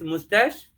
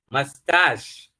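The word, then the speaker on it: moustache: M O U S T A C H E just try most of the students say it's mustache but it is mustache okay how do we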